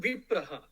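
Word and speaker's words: विप्रः: So, when you break, Asti Guiha Tamam Vipraha, if you stop there, then it becomes Vipraha.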